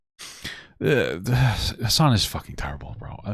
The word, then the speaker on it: Hasan: Hasan.